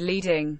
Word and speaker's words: leading: first is what's called leading the space between the lines of text vertically pronounced like lead the term is a